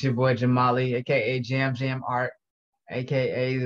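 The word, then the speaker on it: Jamaali: hey it's your boy jamali aka jam jam art aka the one and only j a m a a l i with an invisible z on the end because i know a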